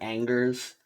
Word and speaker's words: Angers: how to pronounce this in english the person pronunciation would be angers um like we say we don't really follow